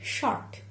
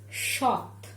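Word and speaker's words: সৎ: should pronounce it like short. That man is short dead. But this is not it. I will pronounce it as shot. So this is dental T.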